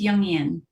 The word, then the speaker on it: Jungian: Did I pronounce that right? It's Jungian.